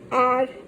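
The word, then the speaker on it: hour: So an orange, an umbrella, an R, an apple. So here even here it's H O U R. But when we pronounce it's R. So the pronunciation starts with O and O is a vowel.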